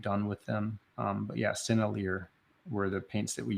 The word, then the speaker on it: Sennelier: I think it's pronounced Sennelier. It's like Sennelier or something like that.